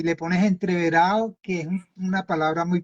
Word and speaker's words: entreverado: título para largometraje y Pero y le pones entreverado que es una palabra muy propia de creo